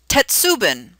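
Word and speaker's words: 鉄瓶: It is Tetsubin.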